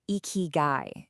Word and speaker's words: Ikigai: First off, it's pronounced eeky guy.